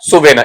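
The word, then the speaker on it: souvenir: सुवेना। इसका स्पेलिंग भी ढंग से पढ़ लीजिएगा।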